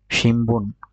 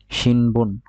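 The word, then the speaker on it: 新聞: সান বান হয়ে যাবে সামবান, শিনবুন হয়ে যাবে শিমবুন।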